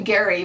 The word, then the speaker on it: Gary: my friend chelsea from chelsea gray it's actually gary but i always want to pronounce it really fancy so i just say chelsea anyway she is my